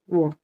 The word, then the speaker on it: devoir: V-O-I. O-I sound is wa, Yes. Devoir.